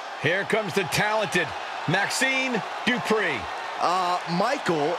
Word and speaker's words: Dupri: Here Comes The Talented Maxine dpri uh Michael it's pronounced dpri the following contest is scheduled for one fall